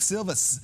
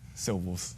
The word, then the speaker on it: Silvels: one at a time the winner is Dominique silvus tilith's Patrick Henry with 40 Percival's excuse me civils fro for these dual kick returns Dominique Seville's with the civils for the record the name is pronounced syllables symbols yes alright I will never get it